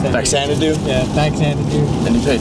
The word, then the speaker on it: Faxanadu: Stuff Mario, Kid Cool, Dragon Spirit, Captain Skyhawk, Marvel Madness, and Fazanadu. I don't even know how to pronounce that. Faxanadu? Yeah, Faxanadu.